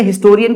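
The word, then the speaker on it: historian: करते हैं अब जैसे हिस्टोरियन की बात करें तो यहां पर एच साइलेंट नहीं होता इसी वजह से इसके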